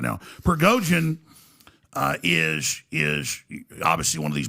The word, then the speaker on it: Prigozhin: Prigozhin, this guy? Prigozhin, yes, Prigozhin, if I'm saying it right.